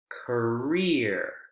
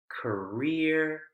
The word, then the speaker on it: career: last group volunteer volunteer career engineer p near where's the word stress excuse me where's the syllable stress in these groups volunteer career engineer pioner it's on the last syllable isn't it yeah so